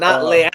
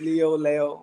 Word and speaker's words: Leo: Like, you know, it's like Lee, but they wanted to make it more Spanish, so it's like Leo. And so not Leal, like some of these people. I heard people butcher the name Leal. No, Angelo Leo. It's not Leal. It's Leo, whichever one.